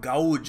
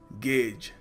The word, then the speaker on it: gauge: जैसे My dear friend, you cannot gauge how deep the ocean is, which is the wrong way to say it.